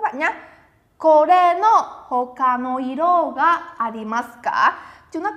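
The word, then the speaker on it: 色: Chúng ta có từ iro là màu sắc nhá. Màu sắc sẽ đọc là iro.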